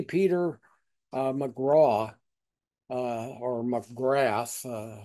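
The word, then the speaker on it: Magrath: Peter McGraw, or McGrath. I think he pronounces it McGraw.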